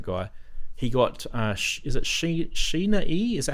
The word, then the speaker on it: Sheila E.: He got, is it Sheena E? Is that how you say it? Is it Sheila E or Sheena E? Sheila E.